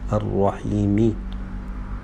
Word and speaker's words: الرحيم: But if we stop, we don't say Ar-Rahimi, we have to say Ar-Rahim. Bismillahir Rahmanir Rahim. Why we stop on Ar-Rahim, not Ar-Rahimi? Because Arabic language starts with movable letters and stops on silent letters.